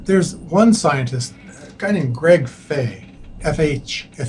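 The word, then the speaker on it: Fahy: diseases and then there's one scientist kindy Nam Fay FH f a y but it's pronounced Fay M um I mean he's he's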